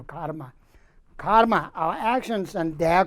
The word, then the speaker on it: karma: Some in Indian they pronounce karam, karma. How is it? Maybe Sanskrit karma. In English it's become karma.